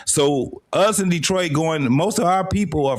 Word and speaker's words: Detroit: You got to understand, Detroit is actually pronounced Detroit. Detroit. It's a French thing.